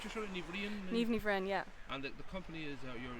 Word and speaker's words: Niamh Ní Bhroin: How do you pronounce your sort of Ní BHROIN? NIAMH Ní BHROIN, yeah.